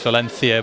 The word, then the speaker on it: Valencia: lost some dream hack Valencia uh that is how you pronounce Valencia by the way I don't have a lisp uh you've lost some